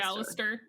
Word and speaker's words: Alastor: And funny enough, the character we're talking about today is Alastor. Just say Alastor. Okay. Just American it up. Yeah, I think that's how they all pronounce it in the show.